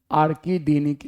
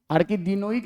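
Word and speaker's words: arachidic: इसी तरह से एक और एग्जांपल है आर्किडीनिक एसिड। आर्किडीनोइक नहीं, आर्किडीनिक एसिड। आर्किडीनोइक अलग चीज है।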